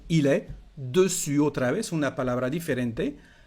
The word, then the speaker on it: dessus: Il est sur la table o il est dessus. Otra vez, una palabra diferente. Hay que cuidar porque la S final no se pronuncia.